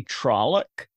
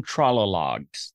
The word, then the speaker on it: Trolloc: And he tries to say trolloc, but he calls them trollologs through the whole movie.